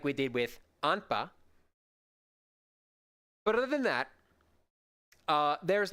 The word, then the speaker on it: anpa: We haven't gotten to this word yet, but there's also the word anpa, A-N-P-A. Those syllables are anpa.